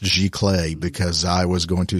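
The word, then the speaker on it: giclée: on your website briefly and I'm glad you pronounced gee clay because I was going to say how do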